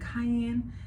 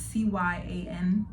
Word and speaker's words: cyan: I always say it wrong. Is it cayenne? It's CYAN blue.